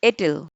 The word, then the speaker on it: it'll: she'll get it tomorrow it will becomes it apostrophe double l and the pronunciation is ittle it'll be done tomorrow